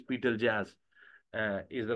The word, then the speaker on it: Betelgeuse: So, I think that Betel uh Betelgeuse Betelgeuse, its its pronunciation is Betelgeuse.